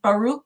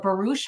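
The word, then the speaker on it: Baruch: just out of nowhere introduces baroo or barouche however you want to pronounce it depending upon what side of the ocean you are on Spinosa and and these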